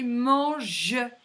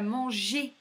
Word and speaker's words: mange: Un G avec un E, ça va faire je. Donc là, c'est un gâteau, mais là, c'est mange et pas manger.